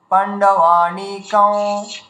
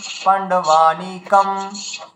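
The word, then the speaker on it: পাণ্ডবানীকং: তো অন্তঃস্থ ব হওয়ার কারণে এটা ব্যাকরণ অনুযায়ী উচ্চারণ হওয়া উচিত পাণ্ডবানিকং, ঠিক আছে।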